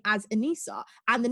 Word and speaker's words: Anissa: my own personal choice so if you if you actually pronounced it the way my mother had intended that it would be a very um ethnic name to say the least but because it's because it's like just pronounced anisa and then i won't